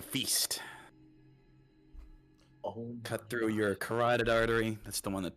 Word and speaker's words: carotid: Oh, Cut through your carotid artery. That's the one that pumps blood to your brain. Your throat. It's pronounced like that.